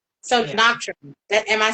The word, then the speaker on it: Nocturne: So, Noctrin, am I saying it correctly? Noctrin. Nocturn.